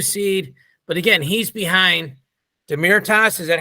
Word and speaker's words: Demirtas: But again, he's behind Demirtas. Is that how you pronounce that name, GT? Demirtas, yeah.